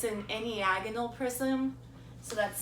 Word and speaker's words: enneagonal: It's an enneagonal prism. So that's spelled E-N-N-E-A-G-O-N-A-L prism.